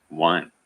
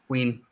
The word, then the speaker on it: Wein: Is it Ween or Wine? I always pronounce it Wine. Really? Ween. It's W-E-I-N. That's how he in the industry preferred it, unless his actual, like, the etymology of his family name is different. I mean, if that's how he pronounced it, then that's how it was pronounced.